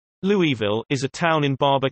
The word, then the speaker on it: Louisville: Louisville is a town in Barber County, Alabama, United States. Originally named Louisville and still pronounced as such.